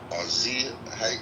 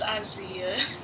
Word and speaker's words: Azia: And also, I would like to commend Azia. I don't know how to pronounce her name. Azia. It's Isaiah.